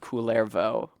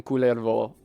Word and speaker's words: Kullervo: But, I put the accent on the first so that he's distinguished from Kalervo, who is his father, right?